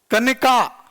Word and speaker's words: कनिका: कनिका, निका नहीं है, कनिका नाम, ठीक है।